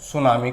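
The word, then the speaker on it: tsunami: क्या कहा जाता है सुनामी कहा जाता है मैं इसमें टीम साइलेंट रहता है ठीक है है कि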